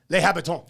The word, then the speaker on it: Les Habitants: It would be Les Habitants, but you say it like French, Les Habitants.